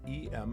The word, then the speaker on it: em: r e m and e m is pronounced like m the letter m so it's the width